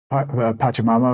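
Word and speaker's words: Pachamama: so I apologize I mispronounced that it should be pronounced pacham Mama of course and uh that they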